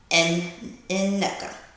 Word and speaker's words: Aneka: And I didn't know until Wendy, at the housewarming party, that Wendy told everyone, this is the Nigerian way of saying her name, and it's Neka.